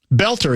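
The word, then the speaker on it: Boelter: of the crimes um Belter is his name, right? That's how you pronounce it. Yep. The O is silent Vance.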